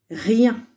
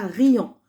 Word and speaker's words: rien: Rien. Attention, je vous avais dit dans une autre vidéo, on ne dit pas riant. Quand vous voyez un I, un E et un N, ça fait ien.